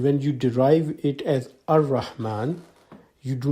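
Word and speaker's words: الرحمن: And secondly, when Rahman becomes Al-Rahman, you pronounce it Ar-Rahman. The L goes silent.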